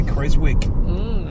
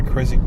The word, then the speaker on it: Keswick: don't I don't I don't think you pronounce the W inik I think always say kiswick perhaps laugh my kic joke perhaps somebody could